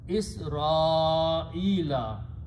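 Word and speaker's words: إسرائيل: Again, I want to point out is that the word Israel has a hamza, so we should pronounce alif before that with a mad. Bani Israila.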